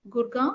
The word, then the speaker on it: Gurgaon: I'm not saying comparing Kerala is it correct pronunciation gurgaon yeah now it is all right yes so